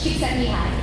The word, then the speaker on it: Csikszentmihalyi: There's a very good Czechoslovakian psychologist, you will know how to pronounce his name. Do you know? It's Csikszentmihalyi.